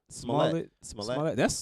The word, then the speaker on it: Smollett: How you pronounce his last name? Y'all know? Smollett.